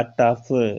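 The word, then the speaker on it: tough: इसमें देखिएगा टफ, ओ का उच्चारण इसमें भी नहीं हुआ, ओ साइलेंट है।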